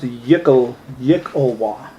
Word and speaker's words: Yklwa: Pronounced Yikolwa. Yikolwa.